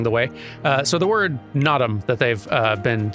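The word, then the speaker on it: Naadam: saying here, or nadam, because like it's clearly a very strongly stressed first syllable. An aspect apparently of pronunciation of a lot of Mongolian language is unstressed syllables. So you know in the word nadam, after that very long stressed na, the dam is kind of like almost skipped over, like a dm sound, like nadam.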